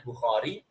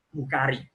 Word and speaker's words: Bukhari: tentunya nya dan EE biasanya ditulis dalam bahasa Arab dibacanya Bukhori tapi karena tulisannya bu u k h a r i maka orang ini membacanya Bukhari hadis riwayat Bukhari Muslim